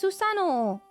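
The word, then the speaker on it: Susanoo: It's Susano. You just can't hear the second syllable in my mouth. You You can't hear the second syllable, but I am saying it.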